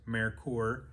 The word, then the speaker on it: Merkur: called Americorps m-e-r-k-u-r the current product the correct pronunciation is Americorps uh not merker or Mercure um so they built them and